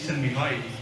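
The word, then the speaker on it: Mihaly: And this gentleman on the right, his name is Mihai, that's how you pronounce it.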